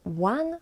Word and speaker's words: ą: So one way of pronouncing this letter is to say O, not A, but O, and add a nasal sound. And this is on.